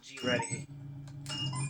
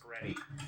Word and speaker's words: GReddy: See, I'm a big fan of Turbonatics, but I know in Nissan, the G-Ready, or Greddy, I think it's pronounced Greddy, is better.